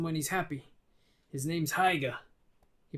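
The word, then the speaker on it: Haigha: only does them when he's happy his name's heiger he pronounced it so as to rhyme with maya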